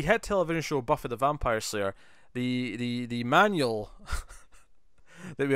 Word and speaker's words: Vampyr: I think it's still supposed to just say vampire, but I like to specify that it's different by going vampire. No, they kept saying Vampyr in all the the interviews